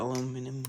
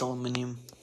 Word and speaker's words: aluminum: But if one flips like significantly better, then I guess I'll get the aluminum one. Aluminum, not aluminium.